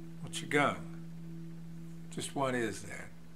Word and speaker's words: Qigong: what Chang just what is that Chang is an ancient Chinese fitness and health lifestyle